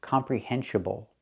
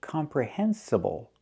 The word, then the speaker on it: comprehensible: The word is not pronounced comprehensible input. It's not pronounced comprehensible input. Comprehensible? It should be comprehensible.